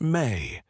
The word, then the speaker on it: me: In Samrian, the word me is pronounced may. It appears throughout their texts, always referring to the same thing. Fundamental powers or principles that make civilization function. Kingship is a mei.